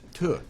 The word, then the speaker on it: Tough: my name it's a it's a scottish name actually and uh if you're in scotland it's pronounced tu so i'd be